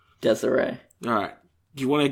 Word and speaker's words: Desiree: Is this pronounced Desiree? Yeah. Or Desire? Desiree.